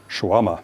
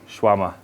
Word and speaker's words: shawarma: Shawarma. Shawarma. There we go. So, perfect pronunciation.